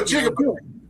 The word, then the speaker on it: jigaboo: The term rhymes with peekaboo is the best way I can. No, jigaboo.